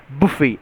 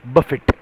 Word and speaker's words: buffet: Yes, it is pronounced as buffet and not buffet.